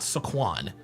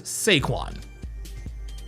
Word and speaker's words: Saquon: His name is not Saquan. His name is Seaquan.